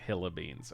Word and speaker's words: Helabeans: No, Tommy was saying Helabeans is pronounced like Hillabeans.